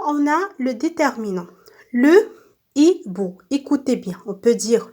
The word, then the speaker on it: hibou: Au début de chaque mot, je vois la lettre H, mais je ne prononce pas. On dit que la lettre H ici est muette, d'accord? Avant le mot, on a le déterminant. Le hibou.